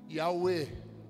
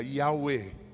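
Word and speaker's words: Yahweh: Que se pronuncia Yahuê. Hã, vamos aprender. Repete comigo. Diga: Yahwe. I. Isso. Mais uma vez. Diga: "Yahé".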